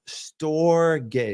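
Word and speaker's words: storge: is store gay love store gay it's spelled s it's spelled s o r g e and I say it s t o r g a y store and that is loyalty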